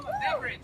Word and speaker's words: Beveridge: Oh, Beveridge. Beveridge. Like drink. Like the drink.